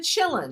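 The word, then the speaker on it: Qilin: is this one that starts with a q a A quillin or a chill you pronounce it a chillin chillin I have seen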